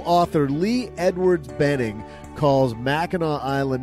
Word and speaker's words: Mackinac: Mackinac Island. Well, that's the way it's spelled. The locals pronounce it Mackinac Island, but they just haven't figured out how to spell it right.